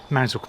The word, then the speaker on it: Mousehole: Mousehole being the Cornish pronunciation of Mousehole.